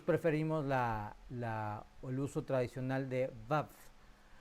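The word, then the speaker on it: וָו: Algunos lo registran como una W. De ahí viene que se pronuncia a veces como wa, wap o wow. Nosotros preferimos el uso tradicional de vav, vav, pero ambas son correctas y aceptables.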